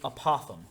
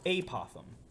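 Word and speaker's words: apothem: We have a special name for a side that's drawn like that, and we call it the apothegm or apothegm. Both are correct pronunciations.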